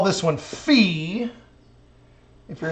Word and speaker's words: phi: it looks like Phi some of the sororities and fraternities at the university actually call it Phi in math we like to make fun of them and say well you're actually saying it wrong it's fee it's more like fee fie foe fum so what angle fee